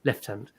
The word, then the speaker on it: lieutenant: Simon items idens uh just to Americans watching this is the correct way to say Lieutenant left hand okay active only for